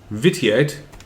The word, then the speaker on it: vitiate: We need the No, right no, no. pronunciation here. What is it? Real pronunciation would be vitiate. Vitiate?